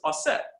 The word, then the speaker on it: Auset: She's like, so I looked up variations and found the ancient Egyptian pronunciation is Auset.